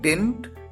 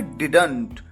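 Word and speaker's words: didn't: construction को ध्यान रखिए या तो आप डिंट या फिर डिडेंट दोनों तरीके से प्रोनाउंस कर सकते हैं मम्मी एकद साल में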